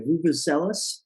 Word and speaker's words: Vuvuzela: Vuvuzela.